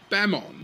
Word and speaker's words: Bemon: They are very similar phonemes to Japanese speakers, but it is supposed to be Bemon, spelt with a capital B-E-M, because B-E-M is short for Bug-Eyed Monsters, a name used for aliens, largely in conspiracy circles, although maybe not conspiracy anymore.